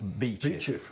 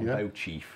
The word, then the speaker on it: Beauchief: It's like Grenell in Sheffield, or Beachiff. Beachiff, yeah. Not Beauchief. Not like I used to say Beauchief. No one calls it Beauchief.